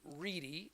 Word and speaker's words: Ready: Our guest today is Dr. David Reedy, and it's spelled Ready, and I'm so glad he's here today.